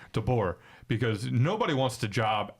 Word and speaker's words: DeBoer: Is it DeBoer? That is how you pronounce his last name? Correct? DeBoer, yeah. Okay, DeBoer, because nobody wants the job after the guy.